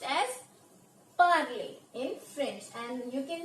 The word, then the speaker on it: parler: This will be pronounced as parler in French, and you can see here it is ending in ER and it means to speak.